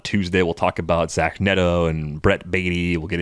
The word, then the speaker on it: Neto: Should like it Vito, be right? Neto? You rhyme with Vito. I would have guessed Neto initially, but it's Neto apparently. So we're living with it.